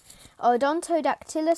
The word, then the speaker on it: Odontodactylus: the peacock mantis shrimp scientific name odontodactylus solaris pronunciation aldontodactylus solaris origin india pacific a range spanning from